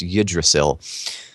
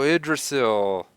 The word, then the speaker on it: Yggdrasil: This one I know how to pronounce. It's Yggdrasil. Oh, Yggdrasil.